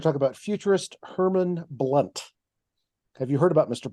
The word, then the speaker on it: Blount: blunt and that is spelled b-l-o-u-n-t but pronounced blunt in the southern style he was nicknamed sunny